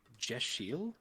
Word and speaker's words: Deosil: Moonbeam says Deosil pronounced Jeshil is sunwise or clockwise.